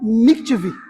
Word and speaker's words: mikveh: era um ritual chamado mikveh. Eu acho que é assim que se pronuncia, tá? Eu não sou profissional em hebraico. M-I-K-V-E, com acento no E.